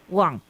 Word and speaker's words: Hoang: And the last name is Huang. H-O-A-N-G. Cook Wang. Yep, that's it.